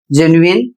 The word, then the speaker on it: genuine: इन सभी शब्दों में यू का उच्चारण किया जा रहा है, कहीं पर व का उच्चारण हो रहा है और कहीं पर या का उच्चारण हो रहा है।